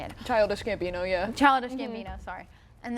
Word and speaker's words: Childish Gambino: gambo I don't know how you say it Childish Gambino yeah Childish Gambino sorry and then like a